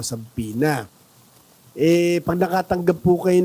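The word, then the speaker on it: subpoena: sampin MM ah Syempre sa mga Pilipino saena saena po ang tawag diyan ang pronounce nila saena e pero syempre sa English po sa pina eh pag nakatanggap po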